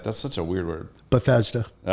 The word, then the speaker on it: Bethesda: that right like that's such a weird word Bethesda all right I did say it right all